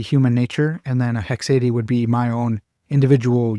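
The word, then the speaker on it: haecceity: Now I've heard some people say a hecade. I hate that pronunciation. I say hexad but whatever.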